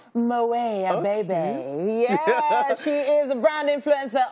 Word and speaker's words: Moet Abebe: the name that tt loves you want to pronounce her name it's moay a baby she is a brand influencer on her personality